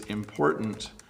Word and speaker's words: important: So it is important to practice.